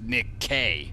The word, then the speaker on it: Nikki: names right except for Nikki although her name's actually pronounced Nick K well just who are